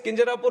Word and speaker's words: Kinjarapu: And my name is Kinjarapu Rammohan Naidu. And when some people say Kinjarapu, there might be some problem with them. They can't pronounce it the way I pronounce it.